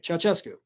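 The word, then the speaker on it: Ceaușescu: Um, but again, oh, somebody told me how to pronounce the name. It just came through. Where did it go? Uh, Chowoescu. Okay, Chowescu, thank you very much for that.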